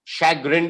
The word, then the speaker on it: chagrin: i n e d d as in delta shag grin is how we pronounce the word chagrin yes that's correct and